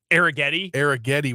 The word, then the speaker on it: Spencer Arrighetti: Arrighetti was going to start like after the game last night.